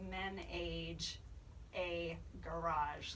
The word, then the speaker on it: Ménage A Garage: spelled yet it's like it's not Nicki Minaj spelling it's men aged a garage that's like the easiest phonetic I can kind of give over the radio yeah type that into